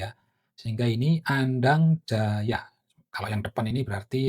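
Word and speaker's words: Andangdjaja: Sementara kalau C aja itu dibacanya Y ya. Sehingga ini Andang Jaya.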